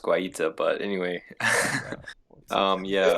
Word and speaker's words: Guaita: Bringing in Gaita. Yeah, I'm feeling pretty well. I'm pretty sure it's pronounced Guaita, but anyway.